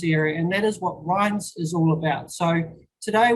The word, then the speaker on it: REINZ: of people struggle with how do you say ryan so it's ryan's and i'll refer to